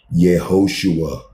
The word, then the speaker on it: Yehoshua: That is how you say his name. Yehoshua. Screenshot it, whatever you got to do, learn how to say it. It's not Jesus.